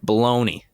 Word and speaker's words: bologna: Like baloney. Why is it spelled bologna?